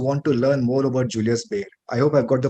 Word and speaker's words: Julius Baer: our audience who want to learn more about Julius bear I hope I've got the pronunciation right Julius Bear right yes yes uh